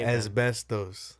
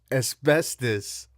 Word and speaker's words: asbestos: vegan asbestos asbestos asbestos how do you say as best those how do you saying that's like a man I give in my my all blame is best - best those you know it's pronounced asbestos why you can't read I did my best